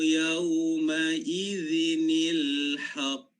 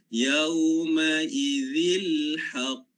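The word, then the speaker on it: يَوْمَئِذٍ الْحَقُّ: Okey, jadi nak bacanya adalah wal waznu yawma idzinil haqq. Nil haqq. Tak boleh baca yauma idzil haqq. Tak boleh. Ya, yauma idzinil haqq.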